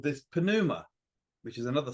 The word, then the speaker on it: pneuma: The ancients called this pneuma, which is another silent P, like Ptolemy, but it's P-N-E-U-M-A, pneuma. Or I think maybe if it's silent P, you can call it pneuma or neuma, maybe.